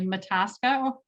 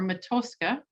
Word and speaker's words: Matoska: But interestingly, Mataska, as it is known locally, or Matoska, as it would be pronounced more properly in Dakota, Park, and of course